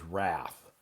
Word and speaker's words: wrath: Then the next one is the next one is wrath. Next one is wrath. Wrath. The W is silent.